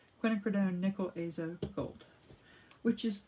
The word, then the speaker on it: quinacridone: into this quinacridone i'm gonna say it right quinacridone nickel azo gold which is it's like a